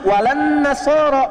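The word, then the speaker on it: ولا النصارى: Cuman kita bacanya pakai eh kan alif lamnya syamsiyah tuh ya. Lamnya masuk ke nun. Walan nasara. Padahal itu tulisannya la wala annasara.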